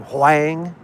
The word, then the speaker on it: Huang: So let's elect Ray Huang. It's a female Ray, R-A-E, Ray for L-A. I don't know how to pronounce the last name, Huang or Wang. It's H-U-E-N-G, Huang.